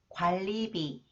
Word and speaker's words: 관리비: Okay, when the final consonants 니은 is followed by 리을, 니은 is pronounced 리을. Okay, 신랑, 신랑, 진로, 진로, 인류, 인류, 관리비, 관리비, 편리하다, 편리하다.